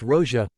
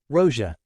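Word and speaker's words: Россия: state name of K Russ which is now pronounced Rosia Rosia instead of Russia which was common in VIs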